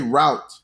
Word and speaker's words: route: The E is going to be silent inside of route.